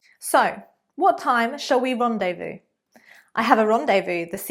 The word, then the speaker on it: rendezvous: The word is rendezvous, rendezvous. So basically, this is a nice advanced posh word meaning meet, to meet someone, to fix an appointment. So, what time shall we rendezvous?